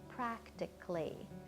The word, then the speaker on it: practically: Now again, you might think the word would be pronounced economically, but it's not. We kind of squish that last couple of syllables together to get a kind of clee sound. So we say the word economically or practically.